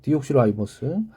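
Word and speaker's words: deoxyribose: 뭐 제가 영어를 잘하는 건 아닌데 다 이거는 라이보스라고 읽거든요. 디옥시 라이보스.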